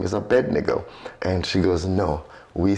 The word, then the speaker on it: Abednego: Although some pronounce, the most common pronunciation I've had nowadays is Abednego. That's what I say.